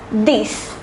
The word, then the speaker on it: dix: And the number 10 is pronounced as dix.